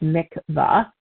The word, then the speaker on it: mikveh: The mikveh, pronounced mikvah, also spelled M-I-K-V-A-H, is a Jewish ritual bath.